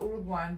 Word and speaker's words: Uruguay: But it's Uruguay.